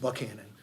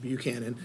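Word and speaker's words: Buchanan: first met him that that is pronounced bucanan not Buchanon and so uh condolences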